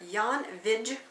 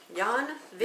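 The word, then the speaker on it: Jan Vijg: interested to know Professor Yan VI who Yan VI Yan v v i j g you don't pronounce the J like that no VI he's a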